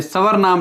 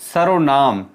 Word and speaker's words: सर्वनाम: ध्यान रखिएगा ये सर्वनाम है, ये स्वर्नाम नहीं है। बहुत से बच्चे इसको गलत प्रोनाउंसिएट, गलत उच्चारित करते हैं। इसको पढ़ना है सर्वनाम, रे पहले पढ़ा जाएगा।